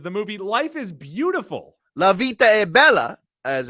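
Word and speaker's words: La vita è bella: Italian things is the movie Life is Beautiful Lavita Abella as it's pronounced or said in Italian mam Mia stamping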